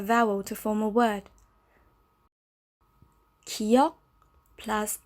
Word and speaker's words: 기역: This letter is called 기역. It's pronounced as the K sound, sometimes the G sound.